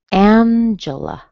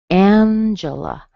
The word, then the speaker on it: Angela: Okay, so for example, Angela. Angela. Angela. Angela. Strong in the beginning and then 2 weak vowels. You hear a schwa.